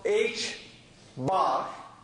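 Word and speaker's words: ħ: later in the course this is pronounced H bar because of this sign on top this is a fundamental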